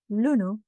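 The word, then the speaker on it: ලුණු: Lunu and lunu. Lunu with a long lu is onions. So, don't get it confused with lunu with a short lu, which means salt.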